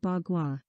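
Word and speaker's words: 八卦: and wind eight trigrams in chinese pronounced as bagua ba means eight gua is a verb that means hang bhagwa means eight pieces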